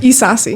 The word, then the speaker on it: Isasi: Our esteemed president and commanderin-chief, Alicia, how do you say your last name again? Hi Isasi.